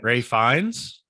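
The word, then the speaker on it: Ralph Fiennes: is now played by is it ralph or is it rafe fine ray finds ray finds okay i think is how you how people say yeah because it's spelled ralph but it's probably i think they say ray ray ray finds i think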